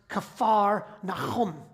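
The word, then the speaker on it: כפר נחום: It actually, in Hebrew, it's pronounced Kafar Nahum, house of Nahum.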